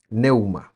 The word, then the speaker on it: pneuma: La palabra que se traduce como espíritu acá es pneuma, neuma, se escribe.